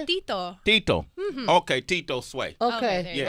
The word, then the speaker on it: Tito: Tito.